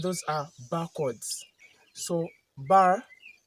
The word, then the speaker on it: barre: So the spelling is B A R R E but the pronunciation is B A R like a bar.